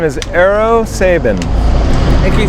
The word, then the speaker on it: Eero Sabin: Yeah, my name is Eero Sabin. And can you spell that out for me, please?